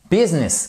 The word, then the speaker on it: business: si je puis dire so regardez business qu'est-ce qui s'est passé le U on l'a prononcé comme un i court mais même chose ici